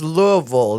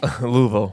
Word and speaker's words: Louisville: And it's Louisville. They say it like retards. Like Louisville? Louisville. It's Louisville. Louisville. Yeah. It's like, that's how they know if you're not from there. If you can pronounce it correct.